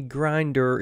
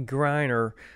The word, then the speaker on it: Griner: it in episode one her name is not Brittany grinder it's Brittany Griner and Andre Andrew Schultz